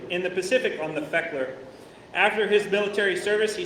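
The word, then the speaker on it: Fechteler: Feckler. Never would have guessed that. Feckler. USS Speckler as a radioman. He was stationed at Long Beach and traveled to many location in the Pacific on the Feckler.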